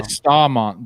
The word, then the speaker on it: Staumont: Some of the YouTube is littered with people saying Stow, S-T-A-W, Mont, and S-T-A-H, Mont, Staumont. So I still don't know. I would say Staumont then.